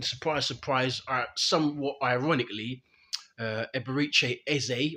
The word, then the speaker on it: Eze: And and surprise, surprise, somewhat ironically, Eberiche Eze, or is it Eza? I'm hearing a lot of people pronounce it as Eza, but I'm going to go with Eze.